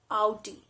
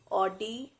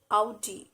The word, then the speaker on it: Audi: again a very known well-known automobile brand it's audi audi it's not or d it's audi audi moving on to the next brand